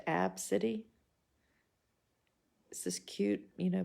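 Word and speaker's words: Abcde: spelled a b c d e and it's pronounced AB City this is cute you know blonde mom and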